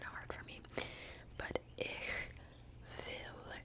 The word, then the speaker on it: ich will: But ich will, it's pronounced differently because W's are like V's.